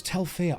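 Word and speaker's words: Tel Fyr: It's Telfia. I've always pronounced that Telfry.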